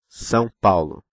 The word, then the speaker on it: São Paulo: See the sign on the top of the A? I mean this one. We call it tio. It indicates both nasality and a stressed syllable.